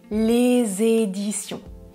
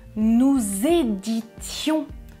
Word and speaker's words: éditions: connue en France et je prononce édition avec la liaison les éditions dans la deuxième phrase attention je prononce nous éditions 200 livres par an quand nous travaillons dans cette maison d'édition je prononce nous éditions des éditions éditions c'est un nom et les éditions ce sont des entreprises qui publient des livres nous éditions c'est un verbe et c'est le verbe éditer à quel temps ?